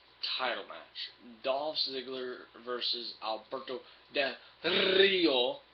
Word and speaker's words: Alberto Del Rio: Next would be your world title match: Dolph Ziggler versus Alberto Del Rio. You gotta roll your R's to be able to do it.